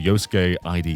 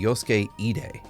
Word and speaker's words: Yosuke Ide: I think it's called Yosuke ID Healthy Mahjong. Is that right, Steve? Very close. It would be Yosuke Ide.